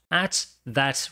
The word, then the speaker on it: at that: At that restaurant. Naquele restaurante. E veja só o que acontece na pronúncia de at that. Como você tem dois T's, eles acabam virando uma coisa só.